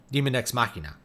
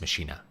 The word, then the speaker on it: machina: I'm like, oh, yeah, we should probably pronounce it in a more Latin fashion, not say Machina.